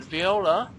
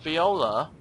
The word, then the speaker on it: Viola: And Viola, well, sounds like Voila, or whatever people say when they, like, you know, take a picture or make a cake or whatever you do. And Viola is spelt Viola, and Voila is Voila.